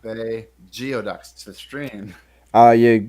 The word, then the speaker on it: geoduck: Chuck not been a geoducks this dream oh you say that 5 times fast I cannot a geoduck ok that's enough what was that it's pronounced gooey ducks we're gonna I'm gonna